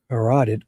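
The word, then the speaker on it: carotid: A partial transaction of her right common corateed artery. Oh, I said it right. I usually screwed up until I realized how I was supposed to say it.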